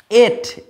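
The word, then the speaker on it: ate: যেমন একটা এক্সাম্পল দিই তোমাকে, যেমন যদি বলি এট, এ টি ই, আমরা অ্যাট বলছি না, এট বলছি, এট, কারণ এর উচ্চারণ এ, আমরা এখানে দেখছি এর লং উচ্চারণ হচ্ছে এ, দ্যাটস ওয়াই কিন্তু এখানে ভিসিভি রুলস হলো।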